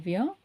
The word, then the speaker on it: vient: And then il vient, now elle vient. Okay, vi, un, vi, un. So what we are trying to do here, V, V-I-V, ah. So no T pronunciation, okay?